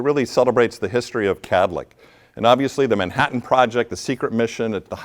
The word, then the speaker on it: Kadlec: I always ask is how do you say the name of our organization Kadlec right two syllables have you ever heard a third syllable drop in to make it Cadillac like the car now I have a